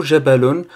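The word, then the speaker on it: جبل: Donc, le mot Jabalon se prononce sur 3 temps. Donc, on a le premier temps, c'est celui du Ja. Après, le Ba.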